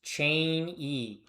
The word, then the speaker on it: Cheney: It's pronounced Cheney. Cheney. Like Dick Cheney.